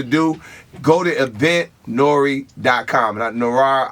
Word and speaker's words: Noire: Now, Noir, I don't know if I'm saying it right, but here. Noir. Noir, thank you.